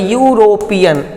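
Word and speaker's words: European: यूरोपियन देखिए क्या है, ये जो है यूरोपियन, इस तरह से ये प्रोनाउंस होता है। तो जब इस तरह से ये प्रोनाउंस होता है, कॉन्सोनेंट की तरह प्रोनाउंस होगा, तो ये अपने पहले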